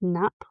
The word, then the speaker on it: Knapp: I'm just going to say it's Knapp, but the K is silent.